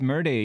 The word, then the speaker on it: Merde: It's pronounced Merde.